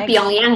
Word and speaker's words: Pyongyang: Bacanya Pyongyang ya.